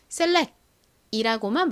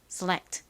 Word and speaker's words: select: 한국식으로는이 끝에 t가 워낙에 약하게 발음이 되니까 그냥 빼고 셀렉이라고만 말하는 경우가 많은데요. 실제 발음은 select 이렇게 소리가 살짝 들어갑니다.